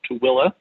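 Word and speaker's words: Tooele: away a town called tooilla it's not it does not sound the way it's spelled but that's how you pronounce it um they also have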